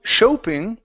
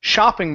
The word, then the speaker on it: shopping: word shop right here instead of show shoping this is an a sound in the middle this is shopping mall shopping mall okay